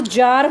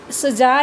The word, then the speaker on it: Tsar: यहाँ पर स्पेलिंग आपको CZAR या TSAR लिखी मिलेगी, बट इसको आप सजार या टजार नहीं बोलेंगे। इसका जो प्रोनाउंसिएशन है T और C साइलेंट होने की वजह से यहाँ पर जार ही आप इसको रीड करेंगे।